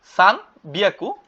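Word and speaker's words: 三百: লিখে প্র্যাকটিস করবেন নি হিয়াকু অর্থ হচ্ছে 200 সান বিয়াকু অর্থ হচ্ছে 300 এটা কিন্তু এক্সেপশনাল একটু ব্যতিক্রম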